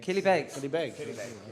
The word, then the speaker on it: Killybegs: own band Gallaher play for how do you pronounce Anna Kiel ability Bey Killybegs okay question question tree for team to walk